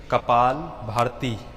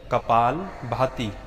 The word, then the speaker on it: कपालभाति: अक्सर लोग उच्चारण करते हैं कपाल भारती, परंतु मूल या असल शब्द है कपाल भाती।